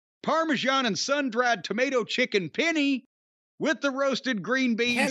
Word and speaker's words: penne: And who can forget the ever popular Parmesan and sun-dried tomato chicken penne with the roasted green beans penne. And the pearl onions. Penne, not penny.